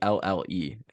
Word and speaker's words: Hjelle: Sean Helly Yeah. or I Jelly. I don't know how to say it. It's very Yeah. confusing. It's Hjelle.